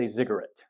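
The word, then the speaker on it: ziggurat: remember what it so pretend you're saying cigarette and then change the the C to a z you get zigarette it's a little bit different pronunciation but it's easier to remember that way so this is a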